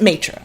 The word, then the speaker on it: maitre: It's maitre, which is always what I want to say, but I'm like, oh, I'm gonna butcher it. Because when you look at it, it's spelled in the French way, and I did take